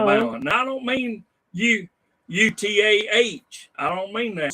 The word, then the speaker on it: Eutaw: Now I don't mean UTAH. I don't mean that. Spell that there in Alabama. You mean like EUTAW. Just exactly how it sounds.